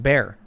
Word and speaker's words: Bexar: talk to people and the x in bexar is silent so it's pronounced bear okay bear county thank you for